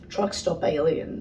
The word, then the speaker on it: Truxtopalien: they're from perth yeah truck stop alien so like the way that they spell it is like t-r-u-x-t-o-p-a-l-i-e-n but it's like meant to be like truck stop like you know what